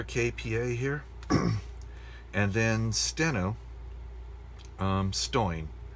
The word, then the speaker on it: Stoin: Another KPA here, and then Steno, Stoin is the way that you would pronounce that in pseudo steno. So S-T-O-I-N.